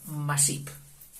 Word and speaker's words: Macip: En Valencia, por los padre e hijo Masip. Masip, te lo pongo así. Masip, porque esta C ellos la pronuncian como S.